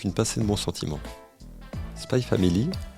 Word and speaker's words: Spy x Family: pinée de bon sentiment spy family on ne prononce pas le X entre les deux mots est un gros succès